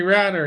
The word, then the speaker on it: Ratter: Merry Christmas, David Tracy, Mike Green, Mike Parrish, our buddy Henry Ratter, he rhymes with ladder, and Sherry, quite contrary.